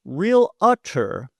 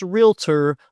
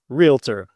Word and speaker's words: realtor: It is not pronounced real utter. It's realtor like doctor and lawyer. You wouldn't call a doctor a docker. Two syllables. realtor.